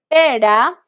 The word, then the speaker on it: pera: surrounded by vowels okay so you're going to imagine you are going to say your letter d in english all right to pronounce this uh soft r pera if you feel necessary